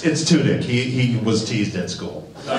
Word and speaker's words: Tudyk: But my question is, I know Alan Turdick had a couple of plots that he wanted to work in that Joss never got around to.